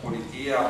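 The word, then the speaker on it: πολιτεία: I think the concept of politia, or I would pronounce it politeia, because we study ancient Greek in Italy and we pronounce it, try to pronounce it the so-called Erasmian way.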